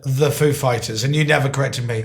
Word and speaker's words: Foo Fighters: like he said he asked us if the accent was on foo or fighters and we know who is like of course we know how he speaks and we said the accent is on fighters actually so he asked I'm